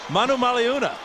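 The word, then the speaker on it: Manumaleuna: Brandon Manu Maluna, the ninthyear veteran out of Arizona. Who is that? Brandon Manu Maluna. Every vow is pronounced.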